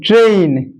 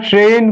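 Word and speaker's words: train: আর এ আই এন ট্রেইন শব্দটা হচ্ছে ট্রেইন আমরা ট্রেন করি ভুল উচ্চারণ করি বলে বানান গুলো আমরা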